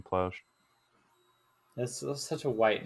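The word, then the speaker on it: Plauché: And it's spelled like Plauche with a apostrophe like directly over the E. Oh, I see now. So wouldn't it be Ploche? Something like that. I just know everyone calls him Plouch. Also, he was really white, so I think he pronounced his own name Plouch.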